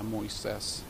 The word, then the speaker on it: Moises: So the suspect is Moises Torres, 18 years old. Can you spell that?